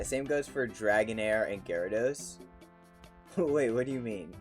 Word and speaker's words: Gyarados: they're never coming back i thought it was like jaredos wait you thought gyarados was pronounced gyrados why would it be